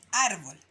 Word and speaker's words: árbol: Entonces, estas dos palabras son graves porque se marcan en el número 2, ¿ya? Marco y árbol. Pero ¿por qué esta sí tiene el dibujo y esta no? Como nos explica aquí nuestro amigo, ¿ya? Se escribe la tilde en las palabras graves cuando terminan en una consonante, ya como la L, o en todas las consonantes menos en la N y en la S, ¿ya?